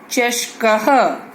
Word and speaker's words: चषकः: श, क जमा अह, चषकः। अ के बाद जो ये 2 बिंदु दिखाई दे रहे हैं, इन्हें हम विसर्ग कहते हैं और इसका उच्चारण ह जैसा करते हैं।